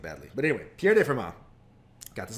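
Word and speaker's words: Fermat: to pierre de forma or you might know him as firm ott and if you've only River read it and you didn't know he was French and the tea should not be pronounced um I'm probably still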